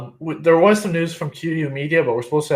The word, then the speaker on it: QYOU: QYOU would be pronounced as Q. No one in history has ever called us Q except for us. Except for us. Everybody says QYOU, so that's why it's so confusing.